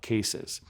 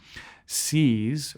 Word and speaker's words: CEAS: for adolescent and adult cases. CEAS, or CAS is the correct pronunciation, is a scoliosis-specific exercise program, very similar to the Schroth or Lions or these different type of scoliosis-specific exercises.